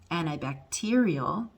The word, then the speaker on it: antibacterial: okay so for example the word antibacterial antibacterial you hear antibacterial that's six syllables okay where's the stressed one that's the loud one and the one that i hold longer antibacterial and i bacte okay it's that one now how do you